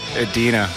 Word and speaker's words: Edina: just want to let you know it's actually pronounced Edina I'm just getting into Dinah not a Dina